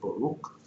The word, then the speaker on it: Baruch: That's how you pronounce it, Baruch.